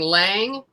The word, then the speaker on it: Liang: i was growing up they pronounced the spanish way which is close it's liang right yeah so then we moved to the states and we kept saying lange so i'd say yes